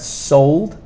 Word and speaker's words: soled: And soled, we have an E that we don't really pronounce, but it does change the sound of this O here. Soled, one sound.